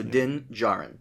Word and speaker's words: Din Djarin: The D is silent, so Din Djarin.